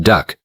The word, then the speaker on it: DUKW: The DUKW, pronounced "duck", was a six-wheeled amphibious